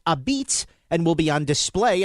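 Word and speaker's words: apizza: The exhibit is titled Pronounced a Beats and will be on display at the museum on Whitney Avenue for the next 2 years.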